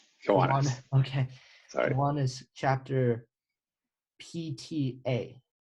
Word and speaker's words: Kiwanis: He served as president at a Kiwanese chapter. Did I pronounce that correctly? Kiwanis.